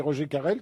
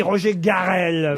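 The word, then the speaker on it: Roger Carel: Alors Guerchard, c'était le commissaire d'Arsène Lupin et c'est Roger Carrel qui le jouait. Excellente réponse de Bernard Mabille. Attendez, je donne le nom et vous vous donnez un Non, vous avez avis. dit Roger Garrel.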